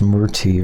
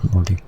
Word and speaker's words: Morty: Oh, it's pronounced Murty or Morty. No, Morty.